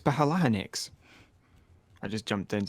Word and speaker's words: phalanx: One was playing Rome Total War at the time, and they were arguing about how you pronounce phalanx. Is it phalanx or phalanx? It's phalanx.